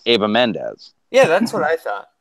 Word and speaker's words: Eva Mendes: So, yeah, it's actually pronounced Ava Mendes.